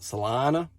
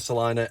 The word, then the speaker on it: Celina: you'll hear a lot of people here in texas call it solana um and i'm i'm really quick to correct them because they really appreciate a british person telling their hometown they are not pronouncing it correctly so uh city of salina and it's beautiful it's